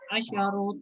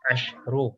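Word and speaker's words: عشر: Sab'u talibatin, thamani talibatin, tis'u talibatin, asyaru talibatin. Ashru ya, shinnya dia sukun. Ashru. Ashru talibatin.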